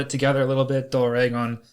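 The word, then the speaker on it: ドラゴン: Doragon is the Japanese pronunciation for a dragon.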